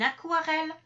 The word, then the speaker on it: aquarelle: vous avez par exemple les mots adéquat une aquarelle un aquarium donc là on trouve le Yom